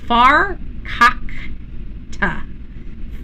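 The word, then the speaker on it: farkakta: Says this page they said it's far cock- ta.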